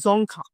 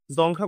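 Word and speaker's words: Dzongkha: আমাদের গোয়ার সরি বাংলাতে যদি বিশ্বাস করা হয় জংখা এই উচ্চারণটা আমার একটু পিকুলিয়ার টাইপের লাগে মানে অদ্ভুত টাইপের মনে হয় এটাকে আমি জংখা হিসেবে মনে রাখি ঠিক আছে জংখা জংখা হলো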